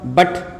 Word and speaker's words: but: लेकिन यहाँ पे जो उच्चारण होगा वो क्या होगा, बट।